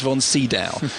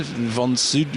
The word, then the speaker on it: von Sydow: Well, it's spelt Max von Sydow, right, who of course famously was the Exorcist